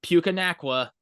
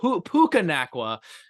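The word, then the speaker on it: Puka Nacua: getting his name right it's not pukaa it it's p pukaa I need to put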